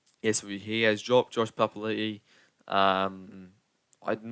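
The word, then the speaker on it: Papali'i: said that he wants the old papali back up is the correct pronunciation um yes he has dropped josh papalee um i'm not sure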